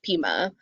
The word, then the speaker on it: Pima: So I went back after a year, and it is pronounced Pima. I just Pima.